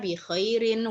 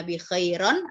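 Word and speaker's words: بخيرٍ: khas kasrah tanwin and Hai bikhoirin Enggak boleh Ana bikhoir on atau Ana bikhoir enggak boleh karena sebelumnya ada huruf jernya huruf Jar nya yaitu baak-ug aku baik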